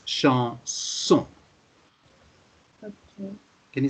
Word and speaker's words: chanson: It's an exception here because normally it should be z. You're quite right because there's one S in the middle of the word. But exceptionally, it's pronounced like a double S. So there are irregularities. There are exceptions. So in this case, it's chanson.